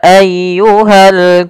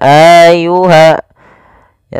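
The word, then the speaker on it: أَيُّهَا: harakat kemudian pfal ayyuhal Kafirun ditekan ynya Qul Ya ayyuha jangan ayyuha ya tapi langsung saja Qul Ya ayyuhal Kafirun Kemudian pada lafal alkafirun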